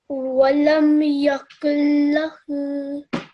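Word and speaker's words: وَلَمْ يَكُن لَّهُ: This noon is silent. Why? Because this is part of the idgham, the assimilation lesson that we taught you, okay? When there is a noon sakin and straight afterwards there's a lam mushaddad, as is the case here, the noon, it might as well not be here in terms of pronunciation.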